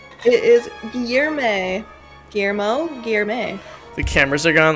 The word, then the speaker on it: Guillermo: Is it Guillermo with an E at the end? Guillermo. Lower your tongues, Terra. I'm trying. Guillermo. I'm trying to pronounce it correctly. Yeah, the L is pronounced more lie. Guillermo.